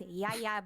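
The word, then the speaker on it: Yalla: So, my name is Yaya and Yaya is spelled Y A L L A.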